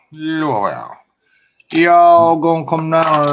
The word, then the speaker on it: Louisville: That's how it's pronounced, though. It's pronounced Louisville. Louisville.